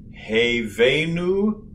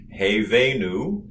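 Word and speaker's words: הבאנו: one more time for good measure slowly together hey venu shalom alaihim now we'll do column response i'll do each word and then you say the word after me hey venu hey venu shalom shalom i laid them all good did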